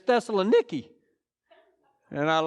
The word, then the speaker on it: Thessaloniki: then he gets to Thessalonica. Did y'all know that's not how they pronounce it over there? Back in 97, I got to go to Greece, and it's Thessaloniki.